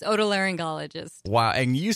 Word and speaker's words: otolaryngologist: Augustine ear nose and throat and she s a board certified help me pronounce this all tilia Joan ologist how's that I totally screw that up didn't I yes you did it's otolaryngologists why and you say